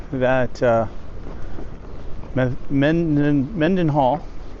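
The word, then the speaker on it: Mendenhall: I will say that uh, Me men Mend Menden Hall said it right.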